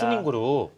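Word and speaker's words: 苏宁: 현지 발음대로 하면 수닝그룹입니다. 수닝그룹.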